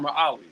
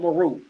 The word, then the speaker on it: Merawi: The capital is not called Meru. It's called Merawi. It's not even called Meru.